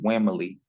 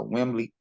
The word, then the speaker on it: Wimley: everyone on Spotify Man r-a-y-w-i-m-l-e-y that's Wembley and my name is pronounced on the women Bruce Lee so Wembley uh you can find me Spotify Instagram Facebook